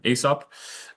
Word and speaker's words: Aesop: Um so I work for a company called ESOP. Um some people might pronounce it ASOP but I quickly got on to the correct pronunciation of ESOP.